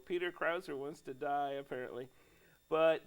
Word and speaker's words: Krause: says they pronounce it Krauser, which is weird. There's no R in it, but anywho. So here's my dream of Peter Krauser.